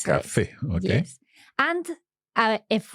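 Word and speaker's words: café: yeah so for example in a word like Cafe we know exactly where to pronounce that accent Cafe okay yes and uh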